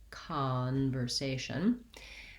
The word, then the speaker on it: conversation: have an ah sound in this word i think conversation probably has secondary stress on the first syllable so it uses that clear vowel ah watch out that you're not saying something more o like so thinking about that as ca conversation then i have another